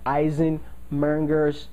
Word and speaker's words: Eisenmenger: reversal of their ASD, and we call that Eisenmenger's disease. Eisen, you spell that correctly, it's Eisenmenger's, M-E-N-G-E-R, Eisenmenger's disease.